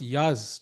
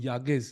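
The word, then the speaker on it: Yağız: entertaining I think for the player but for Yagas it's it's harder he has to hold and also interesting it's pronounced Yaz Chad is letting us know but I kind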